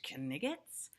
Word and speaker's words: knight: hell is up with the k being silent as we pronounce it now it wasn't silent back then kenneth turns into kinnigan's